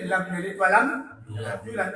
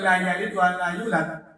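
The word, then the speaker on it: لم يلد ولم يولد: Kalau kemarin kita pelajari lam yalid walam yulad, bukan la yalid wa la yulad, tapi lam bikin lam yalid walam yulad.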